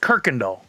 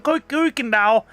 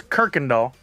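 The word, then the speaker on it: Kuykendahl: l it looks like qu Kendall but it's pronounced Kirkendall and you can always tell somebody that's not from Houston when they when they're interviewed and they go oh I was over on K doll no it's Kirk and doll I don't know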